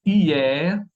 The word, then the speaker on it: hier: Tenemos aquí hier y fier. Hier es ayer, fier es orgulloso, ¿ok? Aquí sí vamos a pronunciar la R, ¿ok?